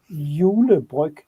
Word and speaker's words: Julebryg: Yeah, and how's that pronounced? Julebrig. Julebryg.